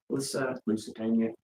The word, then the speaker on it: Lusitania: Lusitania.